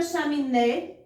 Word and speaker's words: chaminé: Na palavra chaminé, a sílaba tônica, ó, é o né, é a última sílaba.